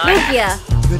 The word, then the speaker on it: Lugia: How do you pronounce the name of this Pokemon? Lugia.